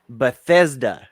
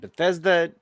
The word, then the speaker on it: Bethesda: while they they purchased uh how do you pronounce this but but bethetta bruschetta bethesda bethesda okay sorry because i see that and